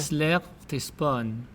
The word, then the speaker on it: Seleucia-Ctesiphon: This That last one is the hardest one to pronounce. How do you say it? Seleucia-Ctesiphon.